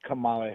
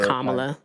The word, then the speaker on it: Kamala: Because then it would be like, "What other reason did you call in for Camala Harris?"